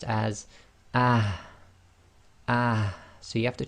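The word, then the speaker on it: ح: of the throat, and we have the forceful ha. So you'll pronounce this with sukoon as ah, and you'll feel a lot of air should come out the front of your mouth.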